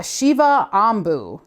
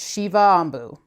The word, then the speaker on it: Shiva Ambu: that is awesome yeah Shiva Ambu that's how you say it Shiva Ambu so Waters of awareness